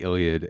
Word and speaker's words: Iliad: That's how you say it, the Iliad.